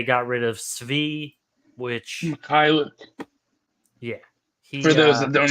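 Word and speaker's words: Mykhailiuk: Mikhailuk. Yeah. For those that don't know how to pronounce it.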